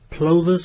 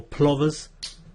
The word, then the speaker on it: plovers: Then we've got a stand of plovers or plovers. Either pronunciation is fine.